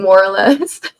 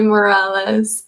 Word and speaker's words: Morales: what were you saying I was saying more oress okay I'm sorry Morales I'm really really sorry